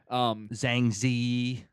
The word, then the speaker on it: Zhang Ziyi: a it's a cultural thing yeah you know zhang ziyi what was hurt like what was her deal